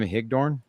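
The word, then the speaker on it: Higdon: We have both Anthony Cognio coming on and as well as uh how do I pronounce his name? Jim Hickdornne.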